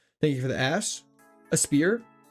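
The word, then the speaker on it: Aspear: A spear. Trying to work on pronouncing it properly because people get mad when I call it aspair apparently. Even though that's literally what it is.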